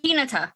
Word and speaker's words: Hinata: Is it Hinata or Hinata? Because I go with Hinata because that's how I pronounce it from Naruto, but I'm not sure if that's... Hinata? Okay. They say Hinata in the show.